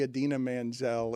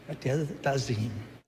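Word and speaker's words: Idina Menzel: He's trying to say Adina Menzel. He has a card in front of him that spells it phonetically. He panics and decides to do it with a flourish, and it's a terrible idea.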